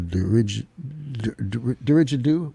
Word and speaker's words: didgeridoo: What if I do like a didgeridoo?